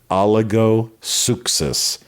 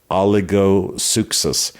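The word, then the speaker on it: ὀλιγόψυχος: It's It's a rather hard to get right in writing, but it's pronounced oligosuchos. oligosuchos.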